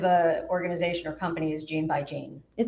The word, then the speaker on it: Gene by Gene: Um, gene by gene. How do you spell that?